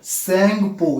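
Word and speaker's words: Tsangpo: है, तो तिब्बत में इसे सेंगपो, ये टी साइलेंट होती है, इसे सेंगपो रिवर के नाम से कहते हैं।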